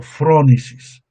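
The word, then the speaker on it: frónesis: Fronisis o frónisis es la pronunciación.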